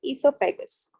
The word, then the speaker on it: esophagus: also known as the esophagus where o is silent okay so from your